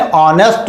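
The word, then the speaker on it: honest: उच्चारित करते हैं तो एच साइलेंट होने की वजह से हा का उच्चारण नहीं निकलता, तो ये पढ़ा जाता है एन ऑनेस्ट मैन।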